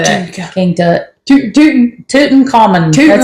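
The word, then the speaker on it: Tutankhamun: that King Tut we'll say that King Tut toon toon common that's how you say his name so um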